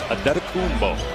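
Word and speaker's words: Antetokounmpo: Pronunciation guide in the Milwaukee game notes, it is Adetokumbo.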